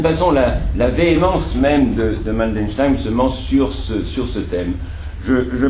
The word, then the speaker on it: Mandelstam: Mandel, l'amande, Stam. Oui, Mandelstam.